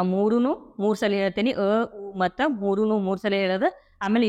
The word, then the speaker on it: ಓಂ: ನಗುಮುಖದೊಂದಿಗೆ ನಿಧಾನವಾಗಿ ಕಣ್ಣುಗಳನ್ನು ತೆರೆಯಿರಿ ಈ ರೀತಿ ಓಂಕಾರದ ಸರಿಯಾದ ಉಚ್ಚಾರಣೆಯನ್ನು ಅ ಉಮ ಇವು ಮೂರು ಸೇರಿಸಿ ಹೇಳಬೇಕು ಅದೇ ರೀತಿ ಇದೊಂದು ಪ್ರಾಣಾಯಾಮ